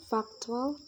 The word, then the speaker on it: factual: The words present, factual, and seldom receive the primary stress on the first syllable, while the words reserve, explore, and esteem receive the primary stress on the second syllable.